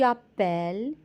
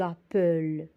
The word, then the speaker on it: appelles: et un e muet le e qui est avant les doigts toujours s'ouvrir on pourrait pas dire j'appelle tu apple ça n'existe pas donc on doit ouvrir le e donc on va doubler